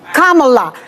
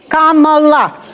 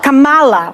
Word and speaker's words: Kamala: by the way let's start with that let's pronounce this Kamala Kamala Kamala this is not Kamala which they say on purpose but that's okay